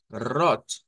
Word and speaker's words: rot: o lo podríamos pronunciar con una r gutural y y recordarán que ayer les decía en el Alemán habían o encontrábamos consonantes aspiradas Entonces cuando se usa esta pronunciación la t se hace aspirada Es lo que me